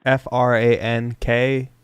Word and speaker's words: Franke: Franke. The E is silent though.